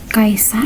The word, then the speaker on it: Caesar: Nah, Caesar Chipper atau Sandi Cesar ini adalah teknik kriptografi sederhana yang digunakan oleh Julius Kaisar atau Caesar nih bacanya.